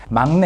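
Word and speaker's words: 막내: Mang is either the youngest sibling in the family or the youngest member of a group pronounced like mang.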